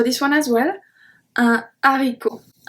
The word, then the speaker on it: haricot: Un haricot. Un haricot. We don't say un haricot. Un haricot.